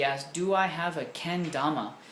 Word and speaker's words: kendama: awesome productions he asked do i have a ken dhamma kendama is spelled a k-e-n-d-a-m-a and you can wikipedia that